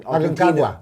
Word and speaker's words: Aconcagua: these Kilimanjaros, the Everest, I think I can't pronounce it. Aconcagua.